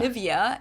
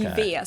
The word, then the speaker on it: Nivea: English native speakers usually say Nivea. Yeah. Nivea. In German, we say Nivea. Okay. Nivea. So the emphasis is on the E.